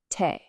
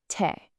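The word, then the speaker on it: 手: It's pronounced Te. Go ahead and say it. Te.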